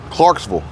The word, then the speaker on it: Clarksville: it was three across the across the state line when we were in Clarksville Clarksville Clarksville spelled c-l-a-r-k-s-v-i-l-l-e but you pronounce it v-u-l-l Clarksville it depends on